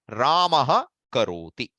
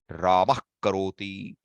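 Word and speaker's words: रामः करोति: See, normally, how do you pronounce this? Ramaha karoti. Ramaha karoti. But that is not correct. If you pronounce it, you have an option. But typically, especially when it comes to Vedas, you will, in Samhita Patha, you will not find an option. It will become Ramah karoti.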